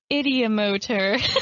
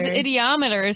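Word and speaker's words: ideomotor: can do this idiomotor we had to look up how we pronounced it and we can't say it without the voice i always thought it was ideometer so that's how i've been saying it but i was completely wrong so um what was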